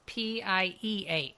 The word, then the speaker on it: Pieh: Yes, and it's Pieh. Yep, but pronounced like 3.1.